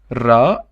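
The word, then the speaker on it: راء: And then we have ra, and ra it's r in Arabic, in English, sorry, r. So we call it ra, and we spell it also r.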